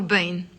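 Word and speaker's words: بين: doing word sentences with the preposition Bane which is also pronounced Bane or Bane then okay that's the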